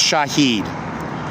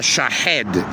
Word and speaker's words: Shahed: The uh shahed is is the correct pronunciation. It's the difference between dessert and desert in English.